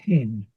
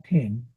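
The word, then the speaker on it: ἕν: Por eso lo pronuncio mía genen. Heí mia hen. Ya. Entonces ahí salí de los es, no es gen, porque tiene espíritu rudo.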